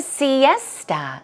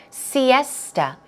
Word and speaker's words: siesta: moving on to siesta siesta stress goes right there siesta so the a s iest a the a at the very end it's more of a oh you sound so it's not siesta its siesta siesta one more time siesta so it's kind